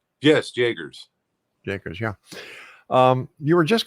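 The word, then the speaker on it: Jaegers: How did you pronounce her name? Jagers, right? Yes, Jagers.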